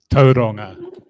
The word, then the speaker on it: Tauranga: Tauranga, as in Tauranga. Yes, I can pronounce most Māori pronunciations appropriately and properly.